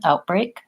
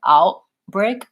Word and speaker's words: outbreak: of gua telinga and I'm just stopping the air before I get to lifting my tongue out outbreak perhaps my tongue is lifting a little further back I'm moving and releasing right into that B come for not that